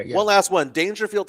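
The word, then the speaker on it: Daingerfield: Dangerfield, Texas, which is spelled D A I N G E R. Field.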